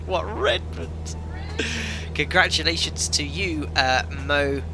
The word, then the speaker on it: Redmond: madden you is correct he said redmond with pronunciation on the re what redmond congratulations to you uh